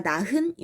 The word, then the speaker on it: 낳은: 발음은 내가 낳은이 아니라 낳은 히읗 발음을 하지 않아요.